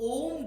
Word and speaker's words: ओम: अगर आप इस तीन जो अ, उ, म है, इसका उच्चारण करें तो ओम ध्वनि उत्पन्न होता है।